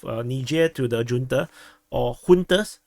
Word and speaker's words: junta: to the junta, or juntas. Some people keep insisting, but in English it's pronounced as junta. You can't change my mind about it. Google Translate tells me so.